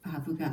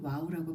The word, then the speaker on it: 바브: 창세기 1장 3절에도 한글 성경에는 빠져 있지만 히브리 알파벳 바브가 앞에 오면서 그리고로 시작됩니다. 바브를 과거에는 와우라고 발음했기 때문에 어떤 사람은 아직도 와우로 발음하는 사람이 있습니다.